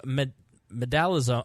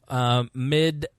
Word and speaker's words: midazolam: The lethal injection consisted of Medalazone. I should have looked how to actually pronounce this. Midazolam. Yeah, midazolam. That's what we'll go with.